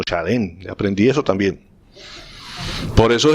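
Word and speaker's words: שלום: Bueno, shalom no se escribe shalom, no se pronuncia shalom, sino shalem.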